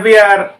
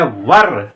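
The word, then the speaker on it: were: ये जो वर है इसे स्टूडेंट्स बोलने में गलती करते हैं, अक्सर बोलते हैं वियर, वियर नहीं, राइट प्रोनाउंसिएशन नहीं है वियर, राइट प्रोनाउंसिएशन इज, इसका जो प्रोनाउंस है राइट वो है वर, क्या, वर।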